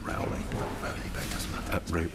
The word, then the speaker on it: Rowley: It's pronounced Rowley. Rowley, but it doesn't matter. Rowley.